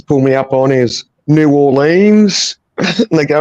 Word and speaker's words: New Orleans: at New Orleans, but it's not New Orleans, it's New Orleans. New Orleans. New Orleans is still pronounced correctly to a degree, but yeah, they just roll it there.